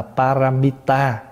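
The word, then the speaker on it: pāramitā: mình là bí mật cái chữ ba la mật này là tiếng Phạn phát âm từ cái chữ Phạn là paramita và paramita thì chúng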